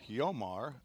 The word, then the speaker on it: Jomar: start the ball game Jomar Negron or yomar is the pronunciation that I would have learned in my time going to Nicaragua yomar j-o and he flies one